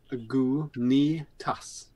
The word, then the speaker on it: Lagunitas: Yeah, underneath here, just there, it says Lagunitas. Lagunitas.